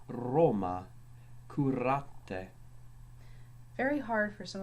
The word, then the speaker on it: Roma: R was always trilled, hence it was called the littera canina, because it sounds as if you're growling, such as in the word Roma, curate.